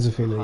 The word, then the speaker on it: Zafina: Zafina. Yeah. And that is how you pronounce her name.